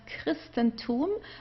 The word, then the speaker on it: Christentum: Here we would pronounce it as a K, Christentum.